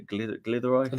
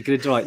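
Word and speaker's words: Glyderau: The Glidderai. The Glidderai. No, because that's how it's said.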